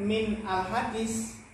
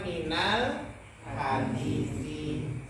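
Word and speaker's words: مِنَ ال: Makanya bacanya bukan min al-hadis. Kalau min ketemu dengan alif lam, maka sukunnya, harokat sukun berubah menjadi harokat apa? Fathah. Maka bacanya minal hadisi.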